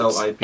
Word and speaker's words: Allip: So, as you pick up the book, Fib, how do you pronounce this thing? Allip springs out, A-L-L-I-P, and it fills the Alep.